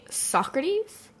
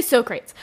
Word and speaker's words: Socrates: They're both about Greece because, of course, obligatory Greece nitpicks is A, they say Socrates the whole time. Well, they say Socrates.